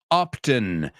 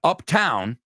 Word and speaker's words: Upton: And number 3, Kate Upton. Kate, not Uptown. Uptown is, as of once you get up past Central Park, that's Uptown. But this is Upton.